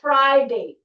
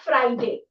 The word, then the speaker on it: Friday: It's fry. You fry things. You fry, like, you know, you eat fried food. So it's Friday, not Friday, which is a very common thing, Friday.